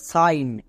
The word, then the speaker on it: sign: যেমন SIGN এর উচ্চারণ হবে সাইন।